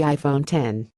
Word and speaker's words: iPhone X: to pronounce its name the X refers to the Roman numeral 10 not the letter of the alphabet and is supposed to